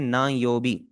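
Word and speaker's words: 何曜日: नायोबी। इसकी pronunciation है। आपने एक चीज पे ओवर करना है। और वो यह है कि यहां पर यह वाला जो अन है आपका यह हार्ड की साउंड नहीं है। यह सॉफ्ट एन की साउंड है।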